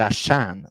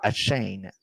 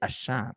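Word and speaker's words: Achane: comme du monde donc c'est pas à chain c'est à Chan Chan rime Monster vous avez une belle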